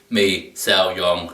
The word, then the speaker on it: mì xào: crispy fried noodles while in Vietnamese me song that's how you say it um I'm having it